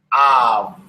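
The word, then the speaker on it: אב: We're just pronouncing the kamatz, which sounds like ah, and we pronounce the Beit, which sounds like v. Av.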